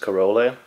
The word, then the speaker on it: Corolle: The doll, I think the brand name is pronounced Corle, but I can't be sure.